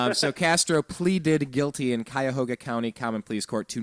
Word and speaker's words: Cuyahoga: anyway pleaded guilty in in what county blake cuyahoga see you got it right now it's no